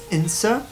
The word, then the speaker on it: Cintsa: So now we are in a spot called Cintsa, pronounced Insa, I think. I can't quite pronounce it right. There's like a sound going on in there.